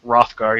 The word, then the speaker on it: Hrothgar: I guess Hrothgar. You don't pronounce that H, I guess.